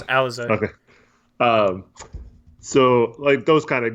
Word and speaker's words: Alize: we should revisit your I'm going to say his name wrong, Alize Johnson. No, Alize Johnson. Right. It's Alize.